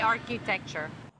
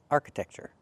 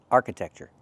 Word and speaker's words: architecture: The word is pronounced arc- architecture. Not arch-i, but arc-a. architecture You can pronounce it with the uh sound, architecture, or you can pronounce it with the i, arch-i-tecture, but not arch-i.